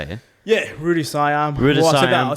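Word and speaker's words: Rue de Siam: Yeah, Rudy Siam.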